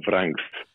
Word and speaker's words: Vranckx: Well, the exact pronunciation is Vranks. All right, but it's not so easy for some people. For some people, it's a bit difficult. Yeah, I know. All right, Vranks.